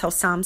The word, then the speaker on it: Hossam: The name of the author is Hossam Saeed, and we did have him on a few weeks back, maybe about a month or so ago.